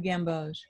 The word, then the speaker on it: gamboge: New gamboge? Yeah. Oh, it's a warm yellow. Okay. Can you spell it? Well, new. Like okay. New. And then G-A-M-B as in boy, O-G-E, new gamboge.